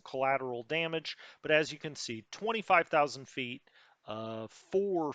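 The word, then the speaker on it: Cairns: how you say it i do know that what looks like carns is actually cans um okay uh this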